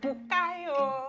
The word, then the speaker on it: Bukayo: forgotten his name, but he'll always be like, Bukayo. And like, that's how it's said. That is a Yoruba name, right? Welcome home, Bukayo.